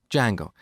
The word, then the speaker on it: Django: framework called Django so it's spelled with a silent D and A pronounced Jango it's a web framework